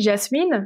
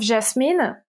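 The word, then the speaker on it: Jasmien: Si, Jasmine, je pense que ça se prononce comme ça.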